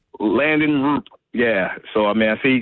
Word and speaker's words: Landon Roop: London Rupp? How you pronounce his guy's name? Landon Roop.